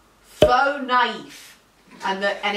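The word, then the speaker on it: faux naïf: okay well you're wrong the word is pronounced faux knife and the and it's it's a hyphenated word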